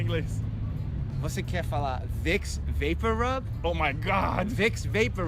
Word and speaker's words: VapoRub: Olha, gente, então não é Vaporub, é Vapor Rub.